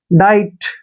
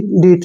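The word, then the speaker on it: diet: को ड पढ़ते हैं अब आई ई आया है तो आई पढ़ेंगे इसको आई ठीक है और टी को ट पढ़ेंगे डाइट हो गया नहीं जी डीट नहीं पढ़ने डाइट आहार अगर हम प्रैक्टिस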